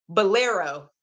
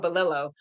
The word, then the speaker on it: Bolero: going to finish this I'm gonna say it right Bolero I was calling belillo Bolero I'm gonna finish